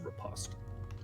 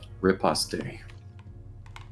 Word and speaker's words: riposte: college and I can tell you that it's pronounced repost repost you say riposte I've always heard it as repost that's acceptable